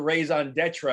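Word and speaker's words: raison d'être: No, I didn't roll the R as much as I should, but I figured like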